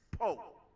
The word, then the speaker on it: Powe: And it's spelled Powe, but it's Poe.